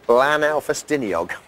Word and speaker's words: Blaenau Ffestiniog: the good people of Blaenau Ffestiniog. I think you'll find that's a correct pronunciation of Glyn's hometown. Yes, BBLB, we have come right here to Blaenau Ffestiniog, the home of Glyn.